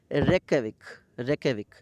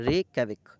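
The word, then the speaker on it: Reykjavík: Iceland की capital है रेकयाविक। इसमें जे जो है साइलेंट होता है, रेकयाविक।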